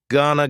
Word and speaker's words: gonna: Gonna is generally pronounced with the schwa. Gonna gonna.